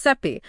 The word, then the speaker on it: Sappi: It's created by David Sappi. Pronounced seep.